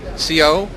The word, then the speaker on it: Siau: 2007 and opposite of me is uh John Co that's the way to pronounce this John okay and he's head of